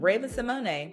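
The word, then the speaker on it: Raven-Symoné: my goodness listen let me tell you something Raven Simone because that's how you pronounce her name get into it yeah um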